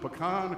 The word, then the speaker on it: pecan: to hear was uh and how do you pronounce it pecan pecan pecan and peaches put some put some